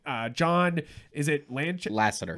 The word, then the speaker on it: Lasseter: of this engine uh john is it landscape lassiter lasseter thank you i'm gonna mispronounce it so lassner uh i i think